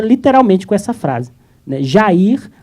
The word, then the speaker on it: Jair: Jair abre parênteses pronunciado Jaer, que não é o melhor tradução, né?